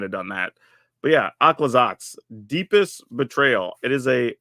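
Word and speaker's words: Aclazotz: oh this is exactly how I would have pronounced it akad zots aquazot yeah that's what it looks like okay cool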